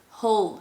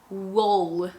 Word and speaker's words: whole: just pronouncing the r or with the word whole wh then you have another example whole you're not saying wall so mistake number three